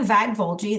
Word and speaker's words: Vagvolgyi: take the home hello um I'm vag vuli that's how you pronounce my weird last name um I am